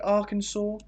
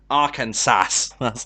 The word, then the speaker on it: Arkansas: up this is arkansas is that the way to say it am i saying it correctly arkansas yeah okay i always say it and i'm like i must be saying that wrong arcane sass so that's that's the